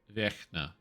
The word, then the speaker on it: Vecna: Vecna, originally Vecna equals eternal from Czech. Pronounced Vecna. That sounds right.